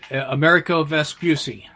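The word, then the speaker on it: Amerigo Vespucci: named after the Italian examples can you sue pronounce it America vest Busey that's right although he was now one of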